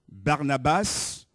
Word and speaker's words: Barnabas: mais à Dieu amen Barnabas qu'on prononce en hébreu Barnaba il y a pas le S le Barnabas basse c'est le nom grécisé on va dire en